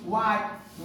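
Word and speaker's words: what: spelling में blue के तुरंत बाद हा का उच्चारण नहीं होता है सो वही व्हाट वेयर ब्लू के तुरंत बाद क्या है ब्लू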